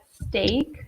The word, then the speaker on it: steak: is the same as an Italian we have steak so be careful about the pronunciation there the vowel sound is a say